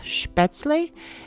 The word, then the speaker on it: Spätzle: In German, I think it's pronounced Spätzle.